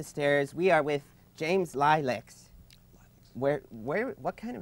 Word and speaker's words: Lileks: I made it up, and I chose one so easy to pronounce, so people like you could say Lileks and stumble.